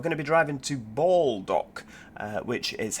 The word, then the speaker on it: Baldock: be driving we're going to be driving to Baldock uh which is how some lovely person in the comments told me that's how you pronounce it not bad or Baldock it's a Baldock apparently uh v-a-l-l space dock that's uh that's